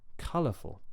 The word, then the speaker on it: colorful: a three syllable adjective well the original word that comes from is color right and the stress that that word carries is on the first syllable so color color therefore I do exactly the same thing even though I'm adding a suffix it stays on that same syllable the stress remains color colorful colorful and the same thing